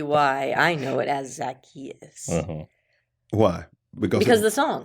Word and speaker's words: Zacchaeus: I grew up saying Zacchaeus. Oh. But lots of other people say Zacchaeus. That's how I've always done Zacchaeus.